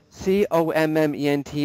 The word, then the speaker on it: comment: Oui, so C-O-M-M-E-N-T, it sounds like this. Comment? Comment? Oui, it's like an sound. Comment?